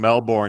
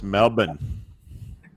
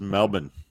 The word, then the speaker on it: Melbourne: don't want to know I've been saying Melbourne incorrectly my whole life apparently it's Melbourne no there's no syllable between the B and the arts is Melbourne coffee coffee talked yeah that